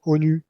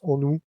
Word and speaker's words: honu: recap les onou alors vous pouvez dire ONU euh on vous en voudra pas mais ça se prononce onou en thïen ça veut